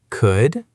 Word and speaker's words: could: Can you say these words correctly? Could, should, and would. Loud. Remember, no L sound.